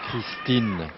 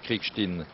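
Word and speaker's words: Krickstein: Nous précisons que Aron Kriegstein, sur la demande du joueur Kriegstein, nous en France prononcerions Kriegstein, C'est bien. eh bien c'est Aron Kriegstein, Aaron. l'américain. Aaron Christine. Alors ce n'est pas une joueuse qui s'appelle Christine ou Aaron. Voilà. C'est pas Christine, c'est Kriegstein.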